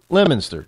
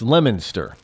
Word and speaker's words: Leominster: city called Leominster well it's not called Leo but it spelled that way but it's pronounced lemonster just so you know